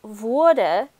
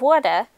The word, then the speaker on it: Wurde: Meanwhile, the U of Wurde is pronounced further back in your mouth and almost sounds like someone from Brooklyn is saying it.